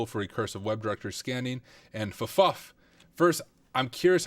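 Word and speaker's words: ffuf: So on this login screen, Big Beef said Fuff is the correct pronunciation.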